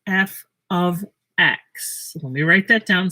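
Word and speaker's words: f(x): of nice huh f and then this is pronounced f of x let me write that down so you don't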